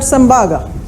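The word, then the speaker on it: Tsembaga: T is silent, we call it Sembaga.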